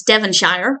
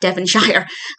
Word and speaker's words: Devonshire: Now, the manor is in Devonshire, which they pronounce Devonshire, which was very amusing to me. Don't have a problem with it. I'm sure I pronounce many American place names incorrectly. And plus, Casper is from America, so he's not going to know it's not Devonshire.